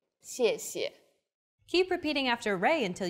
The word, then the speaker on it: 谢谢: And the second syllable is the neutral tone. 谢. Altogether, 谢谢.